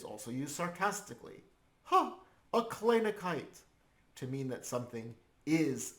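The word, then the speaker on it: קלייניקייט: A Kleinigkeit? Sehr gut. For some reason, words that end in the suffix kuf, zwei Juden tes, are pronounced kite, even though it looks like it should be pronounced kate, like Yiddishkeit.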